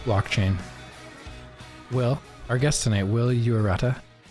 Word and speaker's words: Yuarata: Tonight on the show, very impressive young man, Wil Yuarata. And I did ask him how to say his last name, and that is correct.